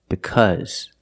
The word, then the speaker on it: because: cause any problems but the word because is different the Au is pronounced with a short sound like cup cut and up uh uh because now you might hear